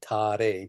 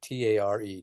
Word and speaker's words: Tare: You call Tara, Tare, T-A-R-E, Tare, Tare, Tare, Tare.